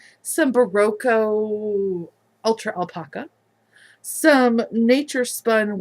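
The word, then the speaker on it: Berroco: some baroco oh I said it right some barroco Ultra alpaca some nature spun worsted by the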